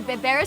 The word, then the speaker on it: berbere: This, the Berbere spice. Berbere. Berbere spice. Woo. Yeah. Berbere. Berbere. Oh, it's kind of like rolling the R, but I can't roll my R's.